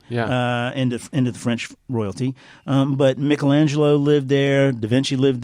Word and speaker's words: Michelangelo: And Is Michelangelo related to Michelangelo? Yes, I'm using the Italian pronunciation.